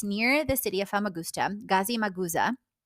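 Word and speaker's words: Gazimağusa: Gazi Maguza is how it's said, I believe, in Turkish.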